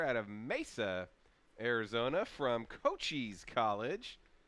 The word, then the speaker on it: Cochise: of Mesa, Arizona from Cochise College. That might be pronounced Coach Scheisse, but I'm going to go with Cochise just because that's more fun to say.